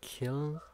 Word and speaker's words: kiln: a lime kiln? Clint? Kiln? Yeah, you said it right. A lime kiln? Clint? Killin?